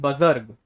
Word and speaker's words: बुजुर्ग: मैंने कहा बेटा वो बजर्ग नहीं है, बुजुर्ग है वो.